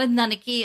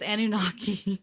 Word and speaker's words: Anunnaki: eventually no it's me i'm pronouncing it wrong it's not a nanaki it's annunaki well it's not you